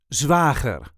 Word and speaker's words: zwager: see how to pronounce Zwager or Schoonbroer or brother-in-law in English. This is the way we say Zwager. Zwager. There is a light emphasis on the first syllable.